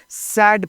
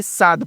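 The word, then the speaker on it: sad: उसके बाद ए से ए डी सैड पढ़ेंगे ना कि साद पढ़ेंगे। है ना? साद गलत उच्चारण होता है।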